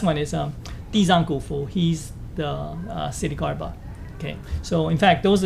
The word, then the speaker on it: Ksitigarbha: Ksitigarbha, yeah, you don't pronounce the K apparently.